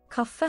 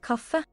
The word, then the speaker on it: kaffe: Kaffe. Cafe. Wait, let me say it again. Kaffe. Cafe. So that's how it said, cafe. Cafe. So I guess it's with ease, you pronounce it more like cafe.